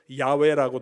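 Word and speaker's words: 야훼: 언약의 하나님의 이름이 뭡니까 여호와 하나님이 야외라고 발음하기도 하는데 여호와 하나님 그 뜻은 스스로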